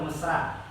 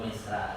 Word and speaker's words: Misra: Misra apa mesra? Oh Misra.